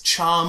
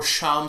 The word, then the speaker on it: Cham: It's Cham or Sham Syndulla, depending on who pronounces his name. I think out of... a lot of the production crew say Cham Syndulla. Most people say Cham Syndulla. Windu says Sham Syndulla.